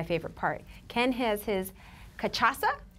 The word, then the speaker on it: cachaça: Ken has his cachaça, right? Cachaça. It rhymes with Mufasa. Mufasa.